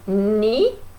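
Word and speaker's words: knee: plus vieux vous voyez ni ça s'écrit corps n heures mais on prononce pas le cas c'est and see comme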